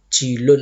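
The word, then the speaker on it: جيل: Jilun itu jamaknya ajial, artinya generasi.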